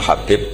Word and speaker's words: Habib: Ada yang nulis Abi Abdurrahman Habib Asulami. Itu di harakatnya kitab itu ada yang nulis khubab. Tapi yang benar Oh, nggih. Yang benar itu bacanya Habib.